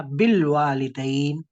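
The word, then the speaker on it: بالوالدين: जैसे मैंने कहा बिल वालिदैन, तो बा के बाद आवाज किसकी आई है? क्या प्रोनाउंस हुआ? बोलिए। लाम। लाम। लाम। लाम प्रोनाउंस हुआ। अलिफ कहाँ गया? अलिफ साइलेंट हो गया।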